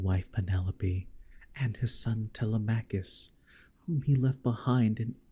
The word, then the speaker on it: Telemachus: It's pronounced Telemachus.